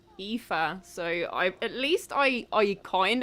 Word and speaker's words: Aoife: you'd been chilling, and I knew that you said it was Eve something, Aoife.